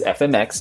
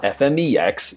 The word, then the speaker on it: FMX: and as I learned it is fmx not fmex even though that's how it's spelled I didn't know much